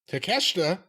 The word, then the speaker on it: Takeshita: Chris Jericho versus our boy, I'll just say it once, take a shit. Takeshita.